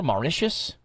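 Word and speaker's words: Mauritius: Maicius.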